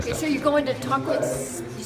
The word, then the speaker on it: Tahquitz: Tahquitz.